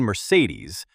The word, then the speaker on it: Mercedes: A couple more characters are the phantom thief Phantom, and the elf queen Mercedes with the stress on the last syllable.